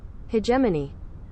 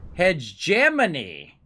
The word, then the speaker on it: hegemony: i think that's how you say it uh pronunciation there we go and we'll have it read it for us hegemony hegemony hegemony hegemony gemini i would have never guessed